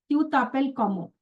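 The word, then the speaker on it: t'appelles: So that is why we are sounding the first S is a silent letter while the second S is a no more silent letter.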